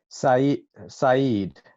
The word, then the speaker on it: Saeed: Can you pronounce the name of the song, please? Saeed.